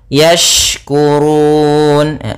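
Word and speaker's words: يشكرون: yaitu fathah bertemu Alif yaskurun yaskurun kemudian hati-hati dalam pelafalan syin jangan sampai terdengan dengan Sin apabila membacanya yaskuru nanti maknanya berubah Nah di sini huruf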